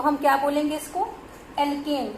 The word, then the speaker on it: alkane: It may be single bond, तो हम क्या बोलेंगे इसको, एल्केन, ANE प्रोनाउंसिएट करेंगे एन।